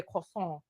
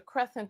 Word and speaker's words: croissant: The woman is pronouncing it correctly. It is a French bread, and it is called a croissant. But he's telling her it's a crescent because he probably saw